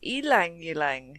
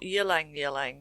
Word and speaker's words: ylang-ylang: So, it's elang yang. Elang yang. Not yang yang. It's not elang yang. So, the y sound becomes a e sound which is unique I would say.